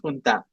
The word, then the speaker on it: junta: It is a Spanish word and it is pronounced junta.